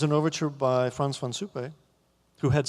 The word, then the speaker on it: Suppé: And Suppé, I thought that he was French because Suppé has an accent on the E. Otherwise it would be Franz von Suppe, which means Franz from soup.